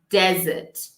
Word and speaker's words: desert: they not look similar let's have a look desert de so here we have the name desert